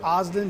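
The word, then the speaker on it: Ozden: just say your name so I get the pronunciation right it's osden b-r-i-a-n-o-z-d-e-n supervisory senior resident agent ssra FBI Augusta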